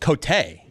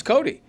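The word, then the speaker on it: Cote: Your name actually is pronounced Cotay, but you say Cody. I know. So, it's Cody.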